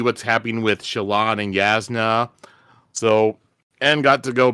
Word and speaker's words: Jasnah: It's Yasna. Yasna.